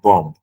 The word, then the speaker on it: bomb: bomb and I go why did he say it's the bomb why not bomb why is he not pronouncing the last B so without any training